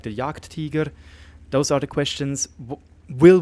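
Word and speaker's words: Jagdtiger: at the octagon 88 some people said I should use the German pronunciation as I'm already true German - Swiss German so yeah what is going to happen to tanks like the Yak Teager those are the questions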